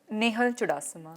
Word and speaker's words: Nehal Chudasama: Zoom Channel hi okay first of all it's Nal chasa it's Nal chasa no I I like to rectify because a lot of people mispronounce have one of the questions around it